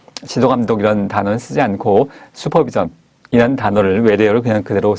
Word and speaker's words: 슈퍼비전: 다시 한번 정리하면 아 저는 표기는 공식 표기 한글의 맞춤법은 슈퍼비전 인데 발음은 수퍼비전 으로 하겠구요 용어는 수퍼바이저 슈퍼바이저 지